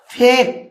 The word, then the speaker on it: fake: তাহলে উচ্চারণ করবো dear viewers ফেক, ফেক FAKE উচ্চারণ কী বললাম?